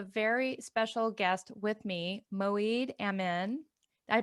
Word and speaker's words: Moeed Amin: And today I have a very special guest with me, Moeed Amin. I pronounced that right, correct?